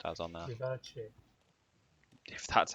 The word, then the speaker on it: Vivace: Put the new Vivus or Vivance or whatever it's pronounced as on there. Vivace. If that's how you're opting to pronounce it, sure. Vivace as in Italian and French vivace.